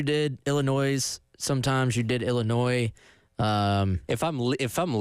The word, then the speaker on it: Illinois: Tuesday Carolina falling to Illinois 21 to 17 and I'm glad that we can put this game behind us for soon because I'm sick of having to say Illinois without pronouncing the S cuz everybody calls me